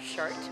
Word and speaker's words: Chartres: so today we are in the city of shark which I was pronouncing the shark for too long so the